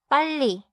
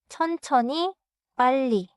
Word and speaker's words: 빨리: 대화에서는 자연스럽게 빠르게 말해도 리을리을이 사라지지 않아요. 걸려요? 몰라요. 달라요. 빨리. 따라해 볼게요. first. 빨리. 천천히 빨리. 자연스럽게 빨리.